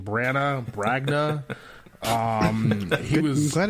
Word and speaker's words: Branagh: I always mispronounce his name. Branagh.